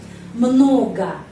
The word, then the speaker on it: много: Много, немного. Penekanannya di sini pada huruf O. Karena itu huruf O yang lain dibaca A.